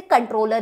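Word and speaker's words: comptroller: बोलते इसे कंट्रोलर ही है। सी ओ एम पी टी आर O double L ई आर। यह स्पेलिंग है बट बोलते कंट्रोलर है।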